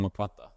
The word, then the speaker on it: Mwakwata: meet Dr mukata thank you very much yeah you said very well my name normally like people make mistake pronouncing M but you pronounce it very well well here's a very